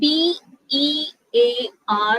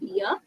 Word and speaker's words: bear: So BEAR എന്ന് pronounce ചെയ്യുന്നത് is actually bear and not beer.